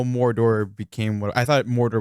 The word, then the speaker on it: Mordor: that yeah yeah to say it right though Mordor M that's true there's a lot of rolling RS which is really cool